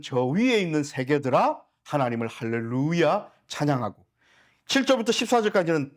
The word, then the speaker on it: 할렐루야: 되겠구나 분명히 깨달으실 거예요 할렐루야예요 루가 장모음 이고요 뛰어쓰기 되어 있습니다 할렐루아 이야가 뛰어쓰기 되 있습니다 이해 되셨죠 그래서 할렐루 야해요 그래서 할렐루 찬양하라고 목적으로서